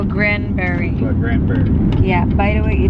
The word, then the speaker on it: Granbury: Granbury. Granbury. Like Grand Prairie, but Granbury.